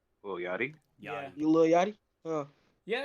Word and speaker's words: Lil Yachty: Lil Yachty. Lil Yachty?